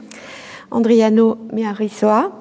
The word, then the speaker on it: Andrianomearisoa: Donc Joël, dont nous avons appris depuis des années à prononcer correctement le nom, Andriano Miarrissoa, est né en 1977 à Tananarive, comme disent les Français, Antananarivo disent les Malgaches.